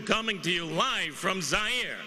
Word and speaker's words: Zaire: to you live from zaire some would pronounce it there they're wrong it got big laughs